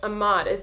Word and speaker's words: Ahmaud: do you know about the situation with Ahmaud?